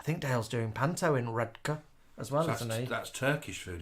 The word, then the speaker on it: Redcar: a cheap Istanbul Cafe in redka redka we're learning Dale told us how to pronounce that right on on Monday I found a cheap